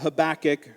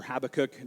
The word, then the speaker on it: Habakkuk: here something you couldn't even imagine I love Habakkuk or Habakkuk depending on how you pronounce it he's a prophet that was crying